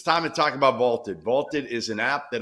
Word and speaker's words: VLTED: So go download the Vaulted app and give it a try for free. Vaulted is spelled VLTED, and it is the